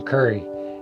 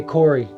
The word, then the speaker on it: Corey: I started working with this old like country dude who had this real thick southern drawl, and he would always pronounce my name Curry. He'd say, "Hey Corey, Curry, come over here, come grab this," whatever, whatever the case was.